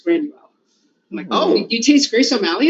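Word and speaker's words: Gráinne Mhaol: grace o'malley because that's the uh gaelic pronunciation of grace o'malley is granual oh you taste grace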